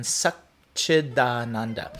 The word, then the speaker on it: Satchidananda: In Sanskrit, we have what's called a sandhi, where words are changed, the beginning and ends of words are changed to be pronounced nicer. So Sat Chit Ananda is much more difficult to say than Satchidananda.